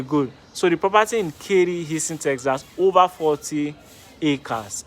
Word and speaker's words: Katy: So I usually call it Katy or Katy before, but they said the T is silent, so they expect my tongue to do magic and say Katy, Houston, Texas.